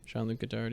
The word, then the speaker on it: Jean-Luc Godard: I don't even know how to pronounce his name. Jean-Luc Godard, yeah, that's right.